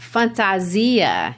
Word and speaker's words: fantasia: is to wear and the word is pronounced fantasia in portuguese that's their portuguese word